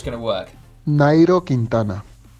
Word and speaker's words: Nairo Quintana: Nairo Quintana.